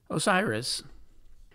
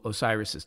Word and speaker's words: Osiris: aru field of reeds Osiris the Greek pronunciation for the Egyptian title Asar is a word whose